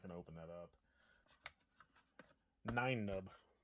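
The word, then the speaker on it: Nien Nunb: Nine Nub. Not Nimnub. I always get that one wrong.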